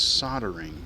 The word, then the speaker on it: soldering: But I've never heard anyone say soldering. It's soldering. And it just kind of drives me a little goofy.